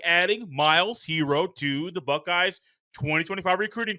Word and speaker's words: Herro: unexpected, like adding Miles Hero to the Buckeyes 2025 recruiting class. And yes, when you hear that name Hero, it is spelled with two Rs because he is the brother of Tyler Hero.